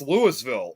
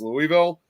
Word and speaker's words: Louisville: And it's it's spelled the same way like you'd see like for Louisville, Kentucky, but it's actually pronounced Lewisville over there.